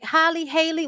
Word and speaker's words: Halle: I hadn't heard nobody pronounce her name when I started calling her Halle Bailey. It's because it rhymes, bitch.